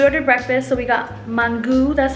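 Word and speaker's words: mangú: can't and we ordered breakfast so we got mangu that's how you say it we got mangu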